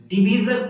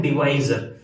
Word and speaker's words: डिवाइजर: जैसे अगर मैं इसको देखूं ग्रेटेस्ट कॉमन डिवीजर, तो इसमें सबसे पहले डिवीजर, कुछ लोग इसको डिवीजर बोलते हैं लेकिन इसका जो सही प्रोनाउंसिएशन है वो है डिवाइजर, तो अपन इसको डिवाइजर बोलेंगे।